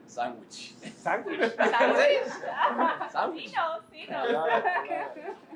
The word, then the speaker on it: Sanguich: Sanguich.